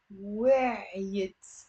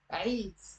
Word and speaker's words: وعيت: Okay, it's one syllable. أنا وعيت. It's not أنا وعيت. أنا وعيت. Okay, just say it once quick. وعيت. And if it's difficult, you can do a liaison and link it with أنا.